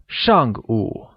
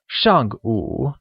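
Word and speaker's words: 上午: translated as Xiang ooh where shank meaning before is said with a falling tone and ooh meaning noon is said with a falling rising tone making it Xiang ooh or before noon here's a quick grammar tip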